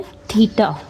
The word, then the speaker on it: theta: और इसको पढ़ना है थीटा। स्पेलिंग उसके THETA है, थीटा। We call it थीटा।